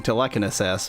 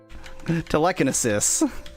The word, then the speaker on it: telekinesis: but no boy tan assess feels like one of the worst intentional mispronunciations I've Done Yet that isad real real bad you're even ending with cess even though it's sis yep telekinesis that just sounds like